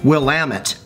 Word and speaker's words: Willamette: This wine, by the way, Other People's Pinot, and this is from that valley in Oregon I just went to, Willamette.